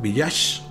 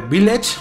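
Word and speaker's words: Village: el de la aldea villas aunque se dice viles no sé como una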